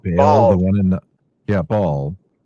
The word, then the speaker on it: Baal: Ball. Yeah. B A L L.